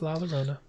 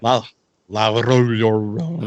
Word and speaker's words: La Llorona: Curse of La Llorona. You said it though. You said it right. Did I? I have no idea. La Llorona.